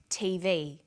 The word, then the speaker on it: TV: with a readon memory notice that each letter in the abbrevi a is pronounced separately but the last letter is pronounced more strongly because it carries the primary stress so we say USA